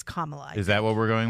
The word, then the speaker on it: Kamala: you mispronounce it by the way but she pronounces it three different ways depending on who she's talking to oh interesting Kamala it's Kamala is that what we're going with I used to say camela but I think it's Kamala all right Kamala